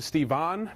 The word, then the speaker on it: Stephen: I my name is Stephen but I also respond to Steve on because that's how it's spelled and all the Russians at work pronounce it that way so whatever just called